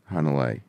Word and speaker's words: Hanalei: Hanalei. Okay, yeah. So like Puff the Magic Dragon, Hanalei? Basically, yes.